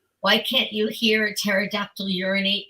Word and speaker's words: pterodactyl: Why can't you hear a pterodactyl urinate because the P is silent?